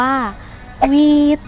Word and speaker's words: หวีด: นั่น เอง ค่ะ ซึ่ง คำ ว่า ฟีด เมื่อ นำ มา ใช้ ใน ภาษา เจ๊ะเห เรา จะ ออก เสียง ว่า วี๊ด วี๊ด ก็ หมาย ถึง การ